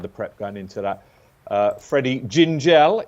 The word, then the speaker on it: Freddie Gingell: Freddie Gingell is how it's pronounced.